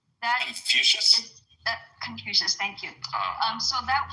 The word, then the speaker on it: Confucius: If I'm pronouncing it right, the Chinese philosophy, right? That Confucius.